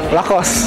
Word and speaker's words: Lacoste: How do you pronounce that? Lacoste.